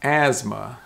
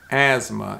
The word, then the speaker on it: asthma: the next word is asthma asthma and this is kind of different and this is why english is so confusing but asthma is spelled